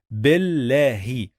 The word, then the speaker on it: بالله: And remember, when we have sukun, we must pause on the letter. That's why we say billahi, billahi, billahi, billahi.